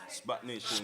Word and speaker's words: SPAC Nation: Can I get the pronunciation right? SPAC Nation, Spark Nation? SPAC Nation.